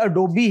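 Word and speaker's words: Adobe: लेकिन computer scientist भी बहुत मिस प्रोनाउंस करते हैं इसको यह एडोबी है दिस एडोबी और अगला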